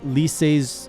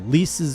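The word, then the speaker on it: Lyse: I've gotten Li's or or sorry, it's one syllable. Lease's new drip, which I have mixed feeling on.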